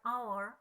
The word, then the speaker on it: hour: Lah, tulisannya H tapi bacanya O, an hour, nah atau an honor, nah itu termasuk dari kategori vokal.